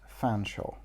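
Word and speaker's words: Featherstonehaugh: Her teacher was a well-meaning, middle-aged woman called Netherly Featherstone Hall, an unnecessarily long name that irritated Jade disproportionately whenever she saw it, especially when Natalie informed her that it was inexplicably pronounced Fanshawe.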